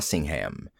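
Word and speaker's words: Singham: but Sidney jail uh Singh ham and no accent on the ham please I close my eyes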